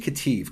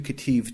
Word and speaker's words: Ketiv: And we call this the Qere Ketiv. Qere is spelled kind of weird.